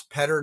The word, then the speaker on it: Petter: And it's Petter, not Peter, although you can pronounce it Peter if you want to.